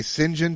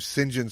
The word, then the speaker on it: St. John: My wife said, "Did it say Singen Talbot?" I was like, "No, it says St. John." She's like, "Yeah, Singen. That you can pronounce St. John as Singen."